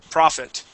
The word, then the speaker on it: prophet: Now, actually, Ate, those two words would be pronounced exactly the same. Okay. Okay. Profit, what is our quarterly profit? Well, we made $4,500. Okay. Mohammed was a prophet, right?